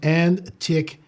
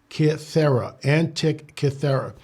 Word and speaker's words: Antikythera: We had someone ask me about it's pronounced Antikythera. Antikythera.